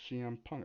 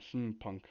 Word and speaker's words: CM Punk: like, oh, his name's CM Punk. I used to call him Sim Punk or Sim Punk because I thought that was his name, and then I started to learn it CM Punk.